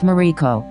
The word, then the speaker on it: Mariko: The name of the land was written Maruko, round, and pronounced Mariko, so it seems that